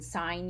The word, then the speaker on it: sign: changes a little bit so in sine you don't hear a g but you hear it in designate and signature the s in designate